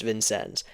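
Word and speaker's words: Vincennes: drove us way on down to good old vincens Indiana which uh it's spelled like vincin but it's pronounced vincens so there you go there you go uh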